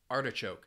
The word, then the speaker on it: artichoke: syllables and the stress is on that first syllable artichoke it is a vegetable uh common I think